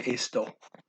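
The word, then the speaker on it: estou: So to say it, you're not going to say estu, you're going to say esto. You're not going to bend the O over because it's not an O there, it's an OU.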